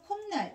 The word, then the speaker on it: 콧날: 시옷의 대표음이 디귿이니까 디귿이 니은과 인접해 있으면 니은으로 이렇게 발음되겠죠. 그래서 콧날 이렇게 보는 경우도 있고요.